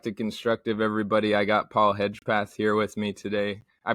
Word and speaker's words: Hedgepath: enjoy welcome back to constructive everybody I got Paul hedgepath here with me today I pronounce that right correct yeah yeah that's right